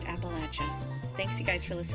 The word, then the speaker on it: Appalachia: you all understand that people from Appalachia say Appalachia not Appalachia and if you take nothing else away from this which I sincerely hope isn't the case it is that it is pronounced Appalachia thanks you guys for